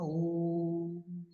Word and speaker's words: ಓಂ: ಅನುಬಂಧ ಕೇವಲಂ ನ ಇತ್ಯವಗ್ರಾಹ್ಯ ಓಂ ಓಂ ಓಮ ಓಮ ಅಂತ ಹೇಳಬಾರದು ಓಂ ಅಂತ ಹೇಳಬೇಕು ಓಂ ಮ ಅಂದ್ಬಿಟ್ರೆ ನಾಲ್ಕು ಮಾತ್ರ ನಾಲ್ಕು ಮಾತ್ರ ಅಲ್ಲ ಮೂರೇ ಮಾತ್ರ ಆ ಉಮ ಆ ಉನ